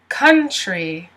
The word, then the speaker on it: country: Now, the interesting thing about this T is it actually sounds like it's CH.